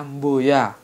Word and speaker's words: boya: Kemudian yang selanjutnya adalah kata boya. Boya. Tulisannya sih cuma B-O-Y-A, tapi kalau lidah Jawa bacanya mboya.